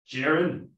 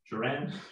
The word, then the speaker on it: Duran: Jaron? Did I pronounce that right? Duran? Yeah, Duran with the Arkansas Sports Network.